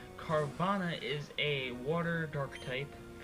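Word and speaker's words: Carvanha: a pokemon known as carvana carvana is a water dark type it's like it's a fishish thing it's it's like a piranha hence the name carbon it rhymes yay okay uh as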